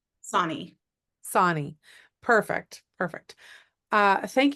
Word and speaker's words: Sonnie: be pronounced so quintina and how do you pronounce the last name Sonnie Sonnie perfect perfect uh thank you so much